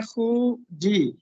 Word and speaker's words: خوجی: یہ بھی بتا پہلے تو یہ دیکھ لیجئے، یہ لفظ خوجی نہیں ہے بلکہ خوجی ہے. خوجی. جی ہم اس کو جیسے فوجی پڑھتے ہیں نا، فوجی خوجی، وہ غلط ہے. یہ لفظ ہے خوجی.